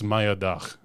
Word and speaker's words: Mayadag: so it's Turkish, and that's actually closer to the Turkish pronunciation. So I should have just went with my heart. Yeah, dude. Damn. So I think the correct Turkish pronunciation, like if you want all the sauce on there, Yeah. it's Mayadag.